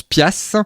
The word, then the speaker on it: piastre: vient de l'ancien français, qui se prononce piastre, qui s'écrit piastre et qui signifie dollar, exactement.